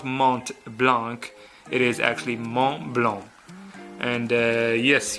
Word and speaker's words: Montblanc: brand so it's not mom Blanc it is not Mont Blanc it is actually mom belong and yes you don't pronounce the T don't pronounce the C as well I'm not trying to